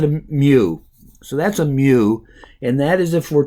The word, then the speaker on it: mu: actually an M but it's a Greek small M it's pronounced mu mu so we pronounce it a me so that's a Mew and that is if